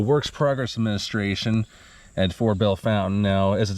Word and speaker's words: Belle Fontaine: Fountain Cemetery I mean I've heard it pronounced Bell Fontaine Bell Fountain Bell Fountain well I think it is official B Bell Fountain but here it